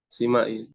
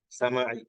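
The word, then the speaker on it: سماعي: Simai. Karena sama'i. Yang lebih fasih bacanya sama'i.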